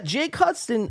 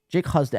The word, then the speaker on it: Husden: So yeah, Jake Hudson or Husden, Jake Husden. Everyone calls him Jake Hudson, but it's spelled Husdon, Jake Husden.